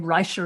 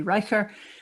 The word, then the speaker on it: Reicher: forgetting who's also brilliant steve reicher who i've learned to accept pronounces his name writer even though i think it should be riker um that group and